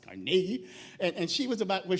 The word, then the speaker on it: Carnegie: It's pronounced Carnegie.